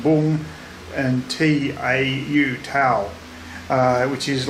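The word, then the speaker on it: Vũng: of these days it's spelled vu ng but pronounced boom and tau tau which is like a seaside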